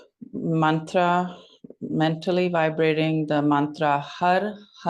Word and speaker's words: Har: And we'll be chanting the mantra Har with each kick, H-A-R. Try to bring the tongue tip to the roof of the mouth when you pronounce the R sound, the R sound.